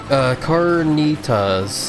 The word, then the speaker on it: Carnitas: Carnitas is how it's pronounced.